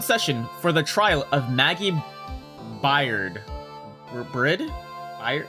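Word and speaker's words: Maggey Byrd: Court is now in session for the trial of Maggie Bird. By how do you pronounce that? Pirid bird. Maggie bird. Yeah, bird as in animal bird.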